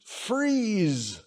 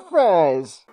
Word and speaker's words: Fries: It's pronounced freeze. I've seen how it's spelled, and you're not going to make me look like a fool. I'll be calling him Mr. Fries.